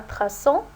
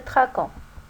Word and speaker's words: traçons: bien droit faites bien attention à traçons on a ajouté la série pour bien prononcé et ne pas prononcer traquant un v6 toi investissons